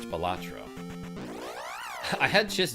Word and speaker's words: Balatro: It's pronounced gelato. Balatro?